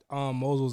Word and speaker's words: Mosel: It's a Moselle. Is that right? How you pronounce it? Mosel. I always say it wrong.